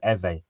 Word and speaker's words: Eze: They actually pronounced his name Eze.